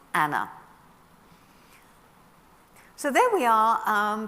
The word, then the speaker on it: Anne: Uh her name was soon shortened to an as we know her, but they would have pronounced it in the continental fashion of Anna.